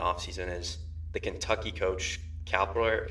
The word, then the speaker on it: Calipari: happened in the offseason, is the Kentucky coach Calipari.